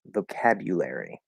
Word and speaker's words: vocabulary: vocabulary vocabulary okay yeah way number one full pronunciation vocabulary okay we have you so it's the first vocabulary so it's actually five syllables not four or five uh because